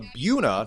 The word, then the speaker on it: Buena: the Robbinsville Ravens and the Buna not Buena High Chiefs speaking of pronunciations